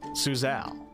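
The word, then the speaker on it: Suzail: bit here all right suzelle pronounced suzelle was the capital of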